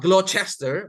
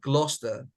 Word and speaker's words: Gloucester: the Cities nearby Bristol the name is Gloucester not glow Chester but Gloucester not Glau but glow not Glau but glow Gloucester Alvin why you raise